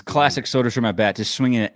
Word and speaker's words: Soderstrom: Okay, his name is Soderstrom. Soderstrom. Dude, I'm always going to pronounce that wrong, knowing me.